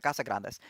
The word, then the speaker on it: Casagrande: Oh, so they could represent Casagrandes. That's not how you say it. It's the it's Casa Grande, right? I I'm a bad Hispanic. Sorry. Casa Grande. Yeah, it's literally big house.